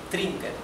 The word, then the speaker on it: trinken: Si tienen dificultad en pronunciar la R gutural del alemán, empiecen por pronunciarla como en español, trinken, ¿sí? Después van practicando para que salga con la garganta, trinken, y no dental como la R de español.